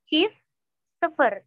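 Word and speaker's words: çift sıfır: Bahasa Turkinya, çift, sıfır. Çift, sıfır. Çift, sıfır. Aman? Jadi bukan sıfır-sıfır ya, tapi çift, sıfır.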